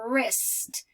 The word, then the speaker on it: wrist: a wrist watch and the W is silent okay so these are